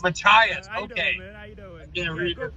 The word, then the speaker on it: Machias: How do you pronounce that? New Mexico? No. Machias. Machias.